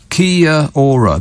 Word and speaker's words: Kia Ora: words to say hello Kia Ora four syllables well they've got nothing